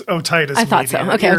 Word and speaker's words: otitis media: How do you pronounce that? It's otitis media.